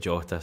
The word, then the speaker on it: Jota: I need to just go Jota. There was someone in the comments was saying that he's done an interview with Jerry McCulloch where he's pronounced it Jota.